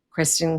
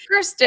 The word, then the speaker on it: Kirsten: Please help me welcome Kristen. Hi Clara. Kristen, I said your name wrong. Kirsten.